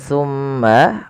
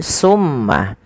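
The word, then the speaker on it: ثم: Pada lafal bacaan thumma nutbi'uhum, ketika kita melafalkan thumma, usahakan kita menahan suara mimnya. Thumma. Dan harus hati-hati di dalam melafalkan sa. Jangan sampai huruf sa ini terganti dengan huruf sin. Maka misalkan terdengar bunyi summa. Nah, ini maka dia berubah menggantikan antara sa dan sin ya. Maka dia akan berubah maknanya.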